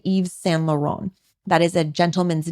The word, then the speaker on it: Yves Saint Laurent: Another one, YSL is the safe way to say it if you want to say the initials, but it's actually Yves Saint Laurent.